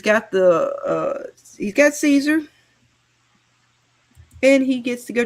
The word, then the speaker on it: Caesar: Kaiser. That's right. Well, you know, it should be Caesar. Yeah, but they pronounce it wrong.